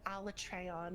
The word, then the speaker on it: Alatreon: like that, and then in the game's cutscene they call it Alatreon, and I'm like, that is the worst. That's the worst possible way you could have pronounced that spelling. Why did you do it that way? All my friends But say Elytrion, so I was just like, yeah, is that Elytrion sounds better.